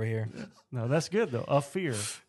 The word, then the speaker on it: Ophir: So it's Ophir. Ophir? Yep. The pronunciation spelling is AAFTH-ER. Ophir.